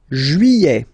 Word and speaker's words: juillet: Juillet. Okay, you get this double L here. Juillet, juillet. Don't pronounce this final T, E-T here at the end. E.